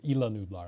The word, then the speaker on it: Isla Nublar: think i'm mainly seeing a lot of isla nublar here or illa nublar i guess it's the proper pronunciation always trip me up because i'm scottish and it's always going to be isla today yeah i